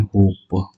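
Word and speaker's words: hope: होप। ठीक है? होप में [गला साफ़ करने की आवाज़] हम यहां पी तक आकर मेरी बात खत्म हो गई। लेकिन हमने इ को प्रोनाउंस नहीं किया। इसीलिए हम ये कह रहे हैं कि ये हमारा साइलेंट है।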